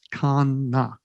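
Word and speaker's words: קנא: and it'll be okay the Hebrew word for jealous in this particular passage is Kana q-a-n-n-a and I had to look up how to pronounce it thankfully somebody had researched that and it's Khana I don't know which one's emphasized so take a pick it means jealous so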